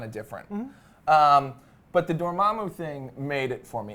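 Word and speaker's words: Dormammu: the the the and did they say dormamu doramu they did say doramu so I have been saying it right my whole you're right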